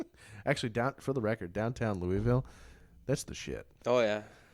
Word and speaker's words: Louisville: It's pronounced Louisville. Duly noted. See, Louisville. I make fun of it, and I go, Louisville. Yeah. Just keep the tongue on the roof of your mouth and just go, Whoa.